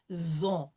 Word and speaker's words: ils ont: So il with the S or L with the S, it will become zon. No pronouncing of the T.